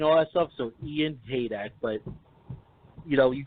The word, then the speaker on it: Heydecke: They mispronounce it. It's Haydecke. A lot of people say Haydecke and all that stuff, so Ian Heydecke.